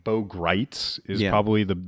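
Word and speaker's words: Gritz: No, but particularly the name Bo Greitz is probably the name. He was like one of the spelled like grits, but not pronounced that way.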